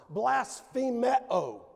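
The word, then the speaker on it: βλασφημέω: There's the Greek word for reviled, and it's pronounced blasphemeo.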